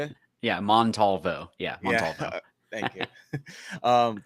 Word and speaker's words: Montalvo: Yeah, Montalvo.